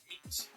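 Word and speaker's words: mete: Meat. Oh, it's pronounced meat.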